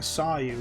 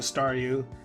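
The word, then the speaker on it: Staryu: was still just a stareu. And I can never pronounce its name right. I always end up saying sound like saw you.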